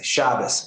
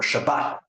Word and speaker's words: Shabbat: of the Kabad rabbis, they all pronounce Hebrew with Ashkinazic accent. So they'll say Shabas and Kashus, right, and things like that. Well, if you talk to a conservative rabbi who learns modern Hebrew, went to university and lived in Israel, we'll say, right, or Shabbat, right?